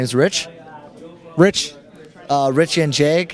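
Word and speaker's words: Jedrzejek: hear it okay so j e d r z e e k or phonetically that's awesome excellent we're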